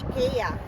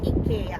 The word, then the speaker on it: IKEA: dito sa IKEA so sa mga Americans ang tawag nila dito ay IKEA pero sa amin dito sa Italy and then sa Sweden UK we pronounce it as IKEA wow Ayan guys